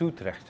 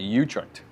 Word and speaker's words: Utrecht: Is that how you pronounce it? It's Utrecht. It's got Utrecht.